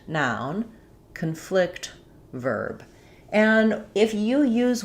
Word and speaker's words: conflict: verb and know that the pattern is typically for the noun we have first syllable stress and for the verb we have second syllable stress.